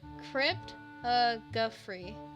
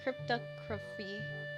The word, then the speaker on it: cryptography: It's pronounced Cryptography. Cryptography? Like photography. Cryptography.